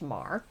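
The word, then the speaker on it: Meagher: 19th century Thomas Francis Mah and it's spelled me e a g h e r the author kindly um and helpfully provided that is pronounced Mar who lived on three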